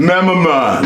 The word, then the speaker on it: Momon: Momon.